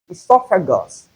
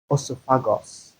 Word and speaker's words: esophagus: So it is pix and not pix and not obi amiba and not amo esophagus and not oopagos.